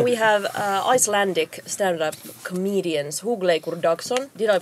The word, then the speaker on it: Hugleikur Dagsson: Hugleikur Dagsson. Yeah. If you just pronounce it like who let the dogs out.